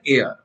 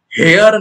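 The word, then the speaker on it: heir: Mister বেনেটের এয়ার, তাই তো? হেয়ার না বলে, আবার হেয়ার বলে, দেখেছি আমি উত্তরাধিকার দেয়, হেয়ার বলে না, এইচ এর উচ্চারণ নেই।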